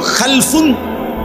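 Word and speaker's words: خَلْف: উচ্চারণের মধ্যে একটু ভিন্নতা মাঝখানে একটা লাম আছে এই লামটার মধ্যে যদি সাকিন হয় তাইলে হল খালফুন আর যদি লামের মধ্যে জবর হয় তাহলে হল খালাফুন আরবি শব্দ খালফুন লামের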